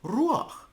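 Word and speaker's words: רוח: Certainly, that's Ruach, spirit. We all had to have plenty of Flatbush Girls Yeshiva Ruach. It is. And that's how it's pronounced in modern Hebrew. In Yiddish we say ruach.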